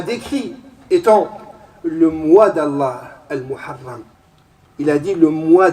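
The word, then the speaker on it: المحرم: Et on prononce Al-Muharram, on ne doit pas dire le mois de Muharram. Il faut rajouter Al-Muharram.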